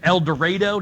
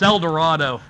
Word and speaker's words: El Dorado: economy um again Raytheon I think it's El Dorado did I say it right for my Arkansas natives sorry uh you know Eminem Port it's El Dorado if you're from uh from your from your Yankee but yep El Dorado there are Raytheon plants there